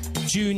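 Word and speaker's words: Jieun: And hi, we got a text from June in Japan. He said, June. Really, June? That really is her name. Like J-U-N, like June. No, it's spelled J-I-E-U-N.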